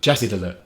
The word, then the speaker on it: བཀྲ་ཤིས་བདེ་ལེགས: BC: བཀྲ་ཤིས་བདེ་ལེགས OF: I can see it.